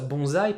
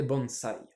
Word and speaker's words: bonsai: en français on prononce bonzail parce que quand on a un S coincé entre une consonne et une voyelle on le prononce comme dans consonne d'ailleurs donc français çarait